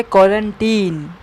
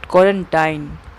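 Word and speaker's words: quarantine: अब देखते हैं अपना अगला वर्ड, जो कि है क्वारंटीन। इसकी प्रोनाउंसिएशन है क्वारंटीन, नॉट क्वारंटाइन। क्वारंटाइन कुछ भी नहीं होता है।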